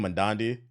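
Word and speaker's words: Mamdani: Mandandi? There we go. That's how you say his name, Mandandi.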